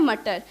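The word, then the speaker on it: Mutter: तो पीस को हम हिंदी में बोलते हैं मटर, और अगर हम उसके प्रोनाउंसिएशन को थोड़ा सा चेंज कर देते हैं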